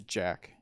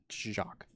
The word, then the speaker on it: Jacq: Everybody pronounces that card wrong. Everybody says Jack. Jacques.